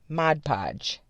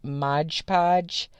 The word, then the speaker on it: Mod Podge: of seal it with Mod Podge. I think everybody pronounces it Mod Podge, but the editor in me is wanting to say like Mod Podge because the first word is spelled M-O-D, but I digress.